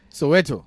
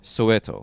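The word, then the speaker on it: Soweto: SW how do you how do you pronounce the place you came from from South Africa Soto Soto yeah Southwestern Township it's it's an abbreviation of Southwestern Township oh that's what it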